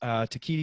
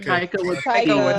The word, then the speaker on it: Taika: Takiti, how the hell do you say his name? Taika.